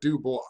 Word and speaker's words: Du Bois: I just mispronounced Webb Du Bois. I honestly had no idea how to pronounce it. I even looked it up and it said Du Bois.